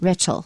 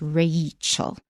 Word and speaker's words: Rachel: is a different name rachel also contains an a rachel not richelle it's rachel all right we're now